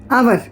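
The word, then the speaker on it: hour: अब कभी-कभी क्या होता है कि हमको ये देखना होता है कि जो वर्ड है उसका प्रोनाउंस कैसे हो रहा है। जैसे हमने लिखा क्या लिखा हमने? आवर आवर एच ओ यू आर आवर लेकिन लिखा तो हमने हवर है।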